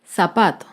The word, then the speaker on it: zapato: Un ejemplo de palabra grave sin tilde es la palabra zapato. Zapato se acentúa en la penúltima sílaba, pero no lleva tilde porque termina en vocal.